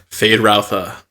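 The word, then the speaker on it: Feyd-Rautha: thank you Jay Scotty and Austin Butler as fade ralpha thank you and Christopher Walken as a person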